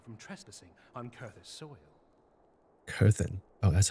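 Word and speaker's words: Coerthan: Kurthen.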